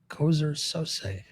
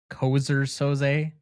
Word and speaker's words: Keyser Söze: Or am I Keyser Söze? Keyser Söze? You mean Keyser Söze?